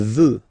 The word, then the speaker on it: veut: Il veut. Final T, not pronounced.